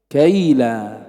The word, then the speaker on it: كيلا: لاحظ، والنطق واحد، كلها كيف تنطق؟ كيلا. كيلا.